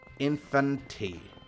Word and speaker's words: Infanti: Okay, our last question this week comes from Infanti. Infanti? It's like kind of like infinity, but it's not spelled like infinity.